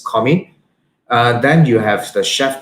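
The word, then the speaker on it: commis: the right we have commie c-o-m-m-i-s is a french term so this is pronounced as comi then you have the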